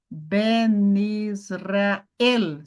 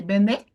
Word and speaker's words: Ben Israel: a pronúncia desde que você não fale Benê tá bom não é Benê esqueça não pause não